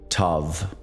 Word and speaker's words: tav: And finally, the 22nd letter, tav, often rendered T-A-V in modern Hebrew. The Golden Dawn table uses T-A-U. Pronounce it with a soft V.